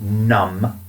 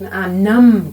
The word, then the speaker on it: numb: So, local anesthetic is when they just numb. You're awake. Numb. Great word, Peter. Thank you very much. Numb. This is n u mb. The b is silent.